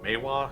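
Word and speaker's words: manhwa: read i also read i think it's pronounced maywa it's like the chinese version or like not not from japan but the other one and i think they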